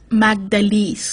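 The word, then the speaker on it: Magdalys: asylum who pronounce the name right don't really pronounce it right like her brother does magdalese like a song stupid sort of english-speaking people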